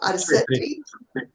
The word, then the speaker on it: Arcetri: And in terms of the visit to the Arcetri, Vincenzo, tell me if I'm pronouncing it correctly. The Arcetri Observatory.